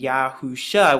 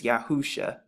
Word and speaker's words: Yahusha: and the ancient again the five different characters that's written and they all make the exact same sounds yahusha and you put it together it's yahusha so those are some